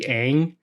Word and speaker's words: Aang: If his pronunciation of his name was Ong, I would have been fine with it. Okay, that's fine. But in the animated show, it's been Aang the entire time.